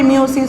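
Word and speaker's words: meiosis: তোমরা অনেকে মিওসিস, অনেকে মায়োসিস উচ্চারণ করো, দুইটা উচ্চারণই সঠিক।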